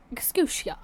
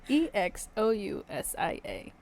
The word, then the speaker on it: exousia: The only time the word authority, or get ready for this pronunciation, exousia. Spell it. Exousia. Thank you. Exousia.